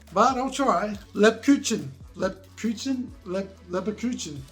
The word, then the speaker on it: Lebkuchen: b k u c h e n that's pronounced lab cutchen lip kitchen according to google a spiced biscuit